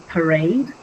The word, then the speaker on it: parade: Like I gave that example before, like in parade, pa would be one syllable. Raid would be another syllable. So parade the first syllable sounds it's shorter it's softer and then raid sounds longer and louder which is how um we determine that it is the stressed syllable and then pa means five.